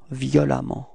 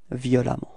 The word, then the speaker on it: violemment: So same concept, you pronounce it like if there was a, violemment, repeat, violemment, okay?